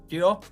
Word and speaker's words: Yeo: Yeo?